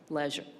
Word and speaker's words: Leisure: Our next person who we honor is Tiana Leisure, and I just learned how to pronounce her name, so Leisure.